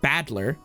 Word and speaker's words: Battler: Made up of the characters for fight and person, and it's pronounced Badler.